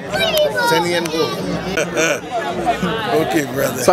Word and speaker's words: Senehun Ngola: Senehun Ngola. Senehun Ngola.